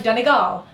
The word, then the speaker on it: Donegal: yes no it's like danal they put the they put the the emphasis on the third syllable which is really hard to do um or Donal um